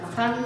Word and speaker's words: Ghaghán: Pronuncia o con GH, que é de reproducir a pronuncia popular de jaján con GH.